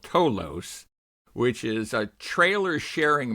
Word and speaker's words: Towlos: So, yeah, it's toos and you you pronounced it correctly so good on you.